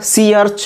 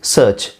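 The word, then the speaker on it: search: ಇ ಎ ಆರ್ ಇದೆಯಲ್ಲ ಇದನ್ನು ಸಿ ಆರ್ಚ್ ಅಂತ ಹೇಳಲ್ಲ ಇಟ್ಸ್ ಸರ್ಚ್ ಸರ್ಚ್ ಸರ್ಚ್ ಆರ್ ಇದ್ದರೂ ಆರ್ ಸೈಲೆಂಟ್ ಮಾಡಬೇಕು ಇಟ್ಸ್ ಸರ್ಚ್ okay ಸರ್ಚ್ R silent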